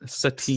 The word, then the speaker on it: Satine: The character says it's pronounced Satine, Satine.